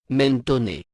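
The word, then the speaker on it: Mentone: en italien le nom sécentoné mentoné le E final étant prononcé comme un ne français au lieu d'être muet le gentilet est au pluriel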